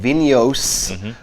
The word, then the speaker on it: Vinhos: talk about is called videos although it is spelled with an H it's pronounced like a y so this comes from